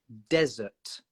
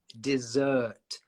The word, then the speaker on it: desert: What will be the pronunciation of desert? Desert. So that's DESERT. Desert, like the Sahara Desert. But then if you add the S, another S, dessert, then it's an sound. So desert, shorter, desert, dessert.